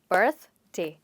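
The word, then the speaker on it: birthday: बर्थ डे, इसमें 2 syllables हैं। Okay, बर्थडे नहीं बट बर्थडे। इसको हम स प्रोनाउंस करते हैं और बोलेंगे बर्थ डे।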